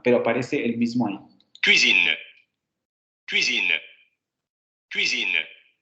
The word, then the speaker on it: cuisine: Vean ahí cómo esa semiconsonante está mucho más marcada que en el audio del diccionario.